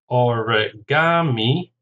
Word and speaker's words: origami: Origami, 4 syllables, stresses on the third, origami.